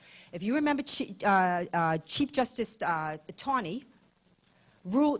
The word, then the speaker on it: Taney: If you remember Chief Justice Taney, Rule Taney, well, some it's actually Taney, but I don't want to fight with you.